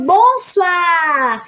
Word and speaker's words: bonsoir: Então, bonsoir. No final, se escreve aí com O-I-R, porque o I vai ter o som de UA, d'accord?